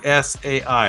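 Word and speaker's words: Tsai: Ming and then T S A I. How do you say that? Sai. Mai. Mingai helped pave the way for Asian-American culinary voices on TV.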